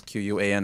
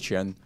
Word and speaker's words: Quan: So you can say Qian, even though it's Q-U-A-N, everyone says Quan, but in Chinese we actually pronounce it as Qian.